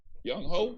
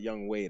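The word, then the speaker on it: Younghoe: Young Ho, that's his name. Yep. It's actually pronounced like Young Way though.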